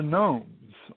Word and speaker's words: gnomes: are we are the Gnomes all gathered around you in your home and speaking to the telepathic phone that is felt known to g-o-g-n-o-m-e-s the a silent G for we tiptoe so